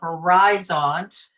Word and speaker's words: Horizont: So, this is a a horizon um or horizont. Clint is probably better on the pronunciation with this than I am. Horizont. Okay. Okay. I've got a thumbs up on that.